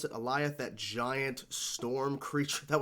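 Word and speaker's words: Alioth: with the help with sylvie they both enchanted aliyah that's how you pronounce it eliath that giant storm creature that was so cool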